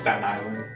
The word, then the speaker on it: Staten Island: So how do you say Staten Island? It's just Staten Island. Like no T.